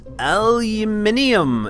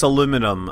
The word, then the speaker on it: aluminium: my decouplers oh man it's all just aluminium it's not there's no such thing as aluminum unless you live in that weird place that doesn't know how to pronounce pronounce English words uh you can tell